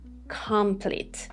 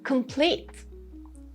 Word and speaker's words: complete: We don't have complete or complete as you see it. No, it is complete.